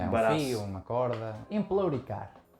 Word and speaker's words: empelouricar: Emplouricar. Emplou ou empleu? Não percebi. Emplou. Emplouricar. Estás aí Emplouricar. emplouricado. É Emplou. emplou.